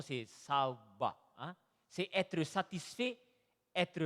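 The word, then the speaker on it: שובע: Abondance se dit en hébreu, la prononciation c'est saouba.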